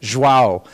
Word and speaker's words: João: And I know I mispronounced everything. It's João, right? Olivia, is that how you say it? João.